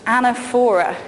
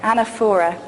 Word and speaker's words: anaphora: here what's known as the rhetorical device of anaphora I don't know if you've heard this word it's spelt aana ph 0 ra anaphora and anaphora is when you make a speech